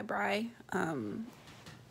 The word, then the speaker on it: Bri: just gonna go by Bri. It's like Fry, but with a B.